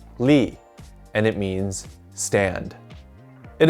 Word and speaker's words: 立: similarities with the ancient character this character is pronounced li and it means stand it is used in